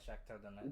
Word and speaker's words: Shakhtar Donetsk: And then for third, Europa League, I got Shakhtar Donetsk. You know, you said it right. I want to say? Yeah, Shakhtar Donetsk.